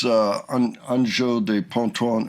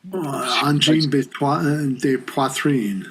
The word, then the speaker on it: Angine de Poitrine: I mean, those guys, Anjo de Ponton, I always get the... Angine de Poitrine. Yes, that's it. You got it right.